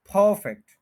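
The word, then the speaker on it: perfect: है ब्रैकेट में यही पीई आर जो है इस तरह से प्रोनंसिएशन लिखा है प्रोनंसिएशन लिखते हुए स्पेलिंग थोड़े से चेंज नजर आते हैं आपको परफेक्ट परफेक्ट तो परफेक्ट नहीं कहना टू सिलेबल्स है फर्स्ट के ऊपर स्ट्रेस है परफेक्ट परफेक्ट कहेंगे तो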